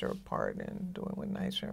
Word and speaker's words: NYCHA: didn't know what if you're not from here nicer sounds like a kind of like a prison